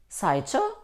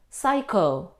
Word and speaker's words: psycho: Chemistry, Saicho, stomach? No. Though we see the combination C and H, we don't pronounce ch. Here, in these words, we pronounce them k. Psycho, psychologist, psychology, stomach, chemistry.